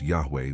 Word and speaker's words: Yahweh: phonetic changes over time the original name of God in archaic Hebrew probably had the sound yahwa if you've watched until